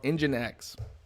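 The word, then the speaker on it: nginx: servers there's something called engine x and that's how you pronounce this you pronounce it like a car engine x but if you just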